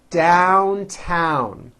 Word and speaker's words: downtown: You have to make believe the vowel begins with the a sound, as in hat.